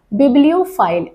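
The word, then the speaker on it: bibliophile: दूसरा देखिए बिब्लियोफाइल। अब ये PHILE का प्रोनाउंसिएशन यहाँ पर फाइल आएगा, तो जितनी भी जगह आएगा ये वर्ड फाइल आप प्रोनाउंस करेंगे।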